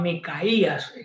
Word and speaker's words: Micaías: Su nombre es acotado de la forma Micaías, como se debería haber pronunciado.